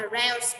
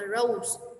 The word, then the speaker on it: rouse: Thì như thế chưa được, từ này mình đọc là rouse, được chưa? Mình không đọc là rose nha.